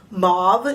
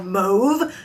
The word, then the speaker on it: mauve: That is a soft mauve shade, or mauve, depending upon how you say it.